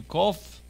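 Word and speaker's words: קוף: A kof, say with me, kof. Kof is a Q sound. Sometimes it sounds very like a K, but it's a Q.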